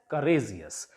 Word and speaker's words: courageous: So the stress will be on the penultimate syllable, means on the second last syllable, or we can say last but one syllable. Here, courageous. It will be pronounced as courageous, ending in ous.